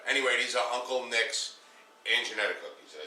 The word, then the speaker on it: Anginetti: that's the flavor anyway these are Uncle Nick's and Jetta cookies did I say it right yeah this